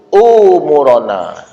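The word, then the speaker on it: أمورنا: moge minta panjangkan umur cuma dibaca itu bukan Ain dibacanya Hamzah Allahumma thowwil umuurona itu Hamzah itu mesjidnya Allahumma yassir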